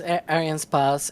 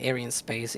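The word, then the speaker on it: Arianespace: Yeah, technically is Aran Spas. It's you can say air in space it's okay but yeah uh low latency feed that really exciting.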